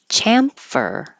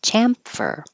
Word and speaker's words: chamfer: Chamfer. The vowel is a, as in hat. Chamfer.